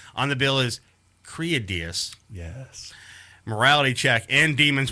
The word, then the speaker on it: Kriadiaz: One of the dudes with the most access to the band and interviews and all that is mispronouncing the name. Say it with me now. Kriadiaz.